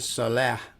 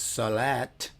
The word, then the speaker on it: salat: For example, if we were to say Salatul Fajr, that's when the T becomes placed in the word salah to become salat.